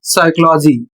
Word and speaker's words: psychology: अगला शब्द है पी एस वाई सी एच ओ एल ओ जी वाई जिसका उच्चारण होता है साइकोलॉजी और इसकी हिंदी होती है मनोविज्ञान।